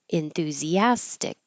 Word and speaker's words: enthusiastic: Enthusiastic. Enthu. This is also needs airflow.